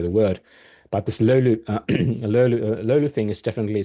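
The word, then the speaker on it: löyly: So it's not that easy to uh pronounce it, but that's that's how you how you supposed to uh say it. Lulu lulu.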